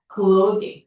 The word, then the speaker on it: clothing: 자, 그 다음 an article of clothing. 자, 이게 어떻게 읽어? 클로딩이야, 발음이.